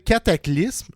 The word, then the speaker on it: Cataclysm: un band qui s'appelle cataclysme ou Cataclysm tout dépendant comment vous le prononcez qui était marquin dans